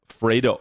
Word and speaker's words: Vredo: So, uh Vredo Vredo Vredo? Not I was I was not pronouncing it that way. Is that correct? Not V It's like more of an F than a V.